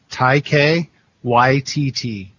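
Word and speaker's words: Taika: k a h Tai Tai K ytt is how you pronounce it so ta if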